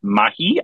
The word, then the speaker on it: Mahi: He's got a new film, and it's called Mr. and Mrs. Mahi, I think it's pronounced. Yeah. Is that what it looks like? Mahi, like the fish.